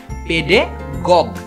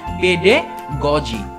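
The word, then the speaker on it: pedagogy: এটার আবার কারেক্ট উচ্চারণ হচ্ছে পেডে গজি, পেডে গজি, যার বাংলা অর্থ হচ্ছে শিক্ষাদান, অর্থাৎ টিচিং। পেডে গগি না, পেডে গজি, পেডে গজি, পেডে গজি, পেডে গজি, নট পেডে গগি।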